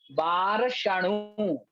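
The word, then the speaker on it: बारसणुवेक्खे: यहाँ बार सणु में ध्यान रखना है, बार पे रुकना है और सणु करके पूरी बोलना है। बार शणु, बार शणु बेखे, इस प्रकार से।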